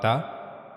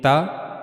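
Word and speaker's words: ت: In ta, we were putting the tip of the tongue at the gums of the upper teeth.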